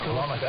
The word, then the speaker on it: kilometre: Well, Wallace, I think last time I was on, I was busy bemoaning the fact that the word kilometre is often mispronounced. It's kilometre, and sadly I'm still